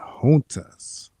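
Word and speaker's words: junta: Honta. Okay. Gonta is pronounced honta.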